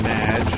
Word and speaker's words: Madge: However, you have mispronounced my name. It's Madge, which rhymes with badge.